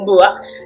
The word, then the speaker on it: Ohmboa: Je l'ai écrit Omboa, mais ça se prononce véritablement Mboa.